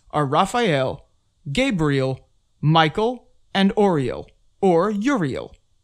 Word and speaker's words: Gabriel: strong gust of wind gabriel often pronounced gabrielle is the archangel of